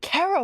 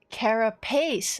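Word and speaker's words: carapace: I've already I've always pronounced it car. What? Uh, Cara Pace. Okay. Face with a P.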